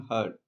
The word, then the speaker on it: herd: Pronunciation heard. R sound silent గా ఉంటుంది.